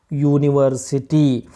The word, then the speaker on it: university: ಹೊರತಾಗಿ V pronounce it ಆ್ಯಸ್ university. So when we pronounce it, we use y sound.